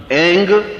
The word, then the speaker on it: ऐं: उस ऐं ह्रीं क्लीं, देखिए अब आपकी इसकी उच्चारण ध्वनि, एंग, रींग, क्लींग। मैं ग की ध्वनि के साथ उसकी बात बता रहा हूं।